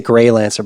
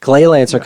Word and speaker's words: Gleylancer: I keep wanting to say Greylancer, but Gleylancer coming to PS5, Xbox Series, PS4, Xbox One, and Switch October 15th, which is in 2 days.